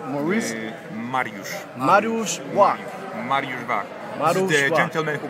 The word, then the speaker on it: Mariusz Wach: Maurice Marushwak Marushwak Marushbwak the gentleman who got perfect pronunciation of the of the name Marush Marushwak